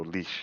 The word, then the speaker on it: Laois: and started making calls, I did not know how to pronounce the word. And now I do now. So leash is but I didn't.